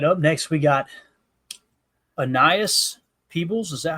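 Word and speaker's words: Aeneas Peebles: Up next, we got Annias Peebles. Is that how you say it, guys? Do we know how to pronounce their name yet? I thought it was Anias. Anias. Okay. Anias Peebles.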